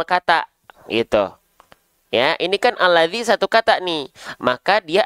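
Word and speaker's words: الذي: harakatnya kenapa enggak dibaca illadzi kenapa enggak dibaca ulladzi ya tapi kenapa dibacanya alladzi ya Kenapa dibacanya alladzi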